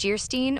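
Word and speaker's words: Geierstein: An of Jayerstein, pronounced Gerstein, or the maiden of the mist by the author of Waverly.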